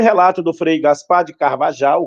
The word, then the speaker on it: Carvajal: registrado pelo cronista da expedição, Frei Gaspar de Carvajal, o Cavarral, né, conforme queiram a pronúncia.